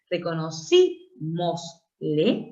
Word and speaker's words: reconocímosle: Pero al agregarle una vocal, una sílaba más, un pronombre en este caso, reconocimosle se convierte en esdrújula.